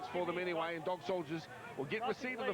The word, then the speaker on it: Dawgsouljahz: Or Dawgsouljahz, excuse me, it's spelled differently, D-A-W-G.